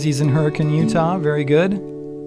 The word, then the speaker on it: Hurricane: Dean says he's in Hurricane, Utah. Very good. That's how you say it, by the way, when you're local, is you say hurricane, not hurricane, just for those who want to visit.